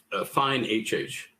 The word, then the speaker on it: Fine HH: And can you update us on the relationship with Fine and Lexion, if that's how you say it? It's Fine HH.